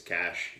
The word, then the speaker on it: cache: thanks for watching honestly I do think it's cash in English for those of us here and in America but because I have